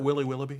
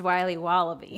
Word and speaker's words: Wiley Wallaby: Can I have a piece of that Willy Willoughby? Wally Wibbly. Wiley's Wallabies. Wallaby Wallies. Wilby Wobbaby. It's pronounced Wiley Wallaby.